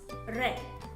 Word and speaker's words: read: tense of the read the spelling reminds the same but how do we pronounce red now let's try to